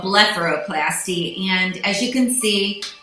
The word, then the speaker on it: blepharoplasty: book bara collapse tea I always think of farro in the middle of it to say it right but it's called letter O plasti and as you can